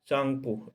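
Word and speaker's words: Tsangpo: शांगपो, T silent कर देते हैं लोग।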